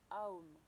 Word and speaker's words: Om: Donc qui se fait en prononçant le son OM qui se dit AOM.